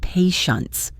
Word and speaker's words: patients: It looks like it should have a T sound in the middle, but it doesn't. The TI combination creates a sech sound. The word is pronounced patience.